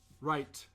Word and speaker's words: right: Right. You always have to pronounce the T at the end.